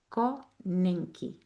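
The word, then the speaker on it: konenki: Eu vou dizer devagarinho porque eu não sei se é assim mesmo que se pronuncia, mas é conen K o N e n k i.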